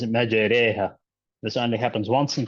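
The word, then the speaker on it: مجراها: So we said the word imala in Hafs is written as Bismillahi majraha, but it's pronounced as majreha.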